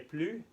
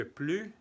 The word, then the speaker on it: plus: Non, je ne vais plus jamais. Entonces, ¿se acuerdan que plus se escribe plus? Pero no decimos plus, se dice plus porque es la negación.